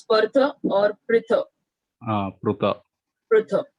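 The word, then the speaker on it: Pṛthā: Okay, wherever there is a dot, we have to pronounce it as Pruta.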